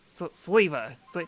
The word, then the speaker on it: Sneasler: Sleeva. I can never pronounce this guy's name. Sleeva? I mean, like, it sounds like beaver, just with a slee. Whoa, you look different. Sneeze-Liver. Sneeze-Liver. Sneasler.